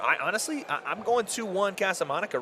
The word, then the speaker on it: Casamonica: I'm going 2-1 Casamonica right now. I am too, man. Casamonica. Did I say it right? Casamonica. Yeah, why are you putting so much emphasis on the Monica?